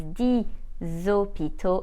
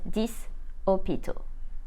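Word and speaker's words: dix hôpitaux: eight starters is and 10 hospitals is D zopito and not this opito that's it for the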